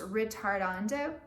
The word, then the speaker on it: ritardando: Rit is short for a big Italian word that's pronounced ritardando.